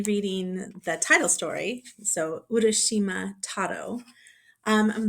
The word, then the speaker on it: Urashima Taro: Today I'm going to read from the book Urashima Taro and Other Japanese Children's Stories. So, this is a book of fairy tales from Japan. Um, I'm going to be reading the title story, so Urashima Taro.